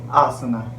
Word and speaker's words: asana: In English, in general, we always say asana, but basically it is asan. It is a Sanskrit term and pronounced as asan, commonly known as sitting position.